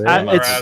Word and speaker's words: Asmodeus: It's Asmodeus.